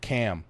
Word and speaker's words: Cham: Spelled Cham, pronounced Cam.